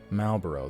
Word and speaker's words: Marlboro: malt moral borrow I I guess I've never actually heard that cigarette brand pronounced despite how popular it is wow anyways marble Marvel I'm gonna stop trying this deal takes the shape of a fetter Marlboro that's what I thought too I know the r